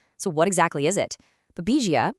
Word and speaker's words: Babesia: Babesia, pronounced Babesia, is a tick-borne parasite that affects wild animals.